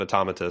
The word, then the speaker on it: Automata: It sounds like we're all in agreement of automata, so that's I guess what we'll go with. Sounds good to me. That's the official ATACS pronunciation.